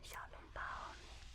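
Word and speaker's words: 小笼包: xiao long bao So, in Nanjing, xiao long bao is a little bit different.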